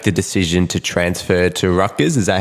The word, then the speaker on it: Rutgers: and you make the decision to transfer to Rutgers. Is that how you say it? Yes, yeah, Rutgers, yep.